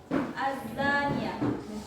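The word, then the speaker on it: الزانية: 1. Az-Zaniyah. Terdapat hukum tajwid idgham syamsiyah atau alif lam syamsiyah karena huruf al bertemu za dan cara bacanya huruf lam dimasukkan ke za.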